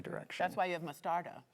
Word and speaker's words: mostarda: That's why you have mostarda. Correct. Mostardo?